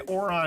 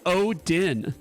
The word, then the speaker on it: Odin: I'm gonna say Oron because he seems like he smells good. It's the right number of syllables, but it's wrong. This is actually Odin.